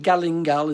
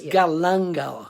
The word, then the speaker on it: galangal: what is galangal yeah it's actually not galingal it's galangal i'll spell it it's